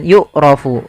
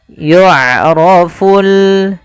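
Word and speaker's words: يعرف: Tapi hati-hati jangan dibaca dengan yukrofu. Yukrofu atau yukrofu. Jangan dibanti dengan huruf kaf atau huruf hamzah. Jangan y'raf tapi dia huruf ain. Y'roful.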